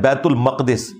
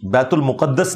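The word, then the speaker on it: بيت المقدس: ये लफ्ज है बैतुल मक़दिस, बैतुल मुक़द्दस लफ्ज नहीं है, बैतुल मुक़द्दस लफ्ज नहीं है, बैतुल मक़दिस इसकी ट्रू प्रोनाउंसिएशन है।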